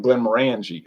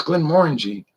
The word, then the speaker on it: Glenmorangie: try the Glen Warren we were calling Glenmorangie I didn't know how to pronounce it but it's a no no it's Glenmorangie Glenmorangie you animal i say ok Glenmorangie